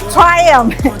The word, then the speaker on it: Triumph: Ada di, bacanya apa, Mas? Triumph.